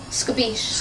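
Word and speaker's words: escabeche: And how do you pronounce that? Scabiche.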